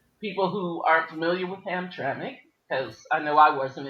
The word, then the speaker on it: Hamtramck: But they were talking about how now Hamtramck is popping bad lead tests.